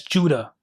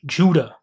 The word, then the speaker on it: Whydah: The people today in this town still pronounce their town in their native tongue as Judah.